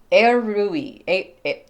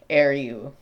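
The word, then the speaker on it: Ériu: I It's spelled E R I U. I looked up a uh interview on the internet to figure out how the interviewer pronounced it and figured that would be the closest I could find.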